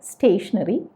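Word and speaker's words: stationary: ഒരു അക്ഷരത്തിന് വ്യത്യാസമേ ഉള്ളൂ ആദ്യത്തേത് പറയുന്നത് സ്റ്റേഷനറി രണ്ടാമത്തേതും സ്റ്റേഷനറി അതായത് ഉച്ചാരണം ഒരേപോലെയാണ് അപ്പൊ മുൻപേ ഞാൻ പറഞ്ഞില്ലേ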